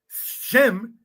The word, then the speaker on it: Shem: In Greek, Shem is sim. Because as pointed out, there is no inner phonetics of Greek an syllable like you got sheen in Hebrew.